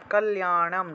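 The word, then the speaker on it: কল্যাণম্: তারপর একটা হলো 14 নম্বরের কল্যাণম, ঠিক আছে, লয়ের সাথে জফলা থাকায় লিয়া উচ্চারণ আসবে, কল্যাণম, অনুসার থাকায় ম, কল্যাণম বিপুলাম শ্রী, অনুসার থাকলে ম উচ্চারণ।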